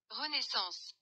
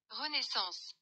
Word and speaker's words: Renaissance: फ्रांसीसी में इसका प्रोनाउंसिएशन कुछ इस तरह है, Renaissance, Renaissance, रेनेसांस लफ्ज दरअसल एक इटालियन लफ्ज रेनेसिमेंटो से माखूज है।